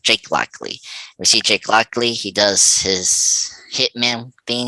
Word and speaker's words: Lockley: his name luckily jake blackley we see jake lockley he does his hitman thing he shoots arthur